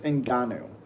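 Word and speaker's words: Ngannou: I'm not racist, but the but that pronunciation is great. It's Inanu. Like I I just liked it already. Appreciate you. I mean, I mean, I don't I see what you're trying to do, but Okay. Inanu.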